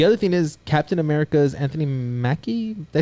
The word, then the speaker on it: Anthony Mackie: The other thing is Captain America's Anthony Mackie.